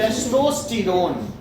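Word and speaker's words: testosterone: सर जो male hormone है उसकी प्रोनाउंसिएशन टेस्टोस्टेरोन, टेस्टोस्टेरोन, टेस्टोस्टेरोन, ठीक है?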